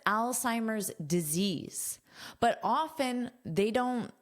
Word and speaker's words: Alzheimer's: Our headline, amazing reduction in Alzheimer's risk, verified by blood markers, study says. First, let's talk about the pronunciation of this word Alzheimer's. So, notice this beginning is pronounced like the name Al.